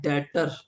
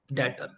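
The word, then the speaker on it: debtor: ऑोजिट word आता है डेटर। क्या वर्ड आता है? डेप्टर। बी मत बोलना। डेप्टर नहीं है। बी साइलेंट है। बी साइलेंट है। डी ई बी टी ओ आर इसको डेप्टर नहीं बोलते बच्चे। क्या बोलते हैं?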